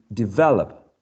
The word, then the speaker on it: develop: the second one um develop develop develop the the this one is stressed in the second syllable right yes develop do